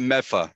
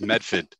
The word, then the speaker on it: Medford: That's, and it's not Meffa. It's Medford, South Medford.